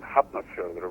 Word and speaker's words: Hafnarfjörður: I mean, when I started with the local amateur theater group in Hafnarfjörður, where I was born and raised. Oh, so that's how you pronounce it.